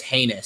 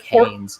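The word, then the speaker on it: Haynes King: just think about it i pronounced it as heinous so i'm going to keep it like that it just sounds like anus so heinous king i'm for sure it's like haynes just like the word heinous which is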